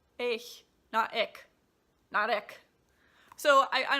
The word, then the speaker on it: ich: or well I guess typically Americans say ich cuz you can't make this sound it's easy it's just like like a cat hissing ich ich notic notic so I